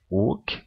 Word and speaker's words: og: When I if you speak and emphasize og one and then the other, you tend to to say "og" with the G. Sometimes in phrases you will just hear "o", like the letter "o" pronounced, but So if we